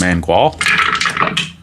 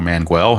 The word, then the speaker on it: Mangual: Go to Mangual, or Manguel, however you want to pronounce it.